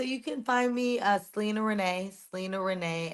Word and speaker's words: Sylina: can find me uh Selena Renee Selena Renee s y l i n a spell you can think of my name as Selena Gomez but it's spelled differently uh s y l